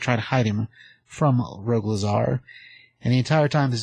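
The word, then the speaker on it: Rogol Zaar: But just so people know, this is Rogue Lazar. Rogue Zar. Let me spell it for you. It's ROGOL, then ZAAR. That's two A's in there.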